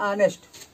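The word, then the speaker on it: honest: राम इज एन ऑनेस्ट, ऑनेस्ट में जब हम ऑनेस्ट को पढ़ते हैं लिखा तो यच से गया है, पर जब हम पढ़ते हैं हिंदी उच्चारण करते हैं तो आता है आ, छोटा आ, ऑनेस्ट आता मतलब बड़ा आ आता है।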